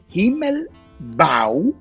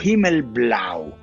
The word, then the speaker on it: Himmelblau: y hay un truco, ellos escriben Himmelblau con la L hacia arriba, entonces dicen que se puede leer Coop, como cooperativa, Himmelbau o Himmelblau.